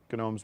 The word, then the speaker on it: Gnomes: believe as well to gnomes movie that came out recently it's pronounced gnomes it's pronounced gnomes okay